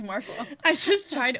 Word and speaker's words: Martial: And it's actually, no, it's just Marshall.